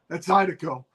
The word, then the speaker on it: Zydeco: love That's Zydeco.